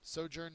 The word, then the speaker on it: sojourn: 19 is sojourn um sojourn means uh it's a noun and a verb first syllables accented it is a temporary